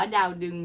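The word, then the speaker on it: ดาวดึงส์: ดาว ดึง นะ คะ คำ นี้ อ่าน ว่า ดาว ดึง นะ คือ ปา ก็ ไป ค้น ดู นะ คะ เพราะ ว่า ที่ ผ่าน มา เนี่ย มัก จะ พูด ว่า ดาวดึง นะ คะ แต่ ก็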